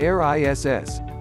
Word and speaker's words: Eris: inside the path of Pluto a RIS Aris pronounced air ISS is the farthest official Major object in our